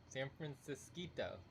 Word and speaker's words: San Francisquito: it is like San Francisco except for a small one. San Francisquito. San Francisquito? Yeah, so ito in Spanish is small, so San Francisquito.